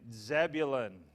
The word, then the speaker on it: Zebulun: Issachar, let me spell that for you. I-S-S-A-C-H-A-R. I-S-S-A-C-H-A-R. Issachar. And Zebulun.